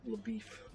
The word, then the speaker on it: LaBeouf: LaBeouf. It's LaBeef. Shy is like God, and LaBeouf is LaBeef. It's beef. LaBeouf is beef.